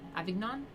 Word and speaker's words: Avignon: who succeeded him chose to reside in avignon avignon is how you say it understandably this did